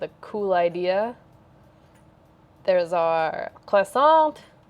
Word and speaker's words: croissant: cool idea there's our croissant croissant sorry you don't pronounce the t right song we we all